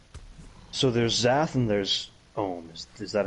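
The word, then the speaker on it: Omm: So there's Zath and there's Ohm.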